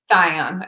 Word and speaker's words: Thyon: Thyone? Thyone, okay. I think that's how it's pronounced.